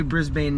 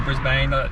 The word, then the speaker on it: Brisbane: are a Brisbane native Brisbane I just said it wrong oh Brisbane or Brisbane it depends on who you talk to do people say Brisbane uh people who aren't from here but are here is